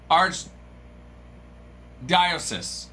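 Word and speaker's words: archdiocese: I've got how to pronounce arch diosis.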